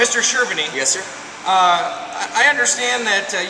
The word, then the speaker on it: Cherveny: Cherveny. Cherveny. Yeah, it's Bohemian. Cherveny. Right. Mr. Cherveny.